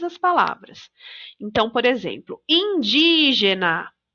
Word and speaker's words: indígena: palavras então por exemplo indígena sílaba tônica é o de porque tem acento a gente já sabe